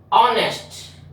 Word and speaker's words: honest: ऑनेस्ट, ऑनेस्ट एच इसमें silent होता है।